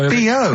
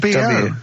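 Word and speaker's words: B.O.: No, it's B-O. It's B-O, that's B-O-W. Well, yeah, but you've got to play... It's not pronounced bow, and it's not spelt bow. Who calls it bow? Everyone knows it's B-O.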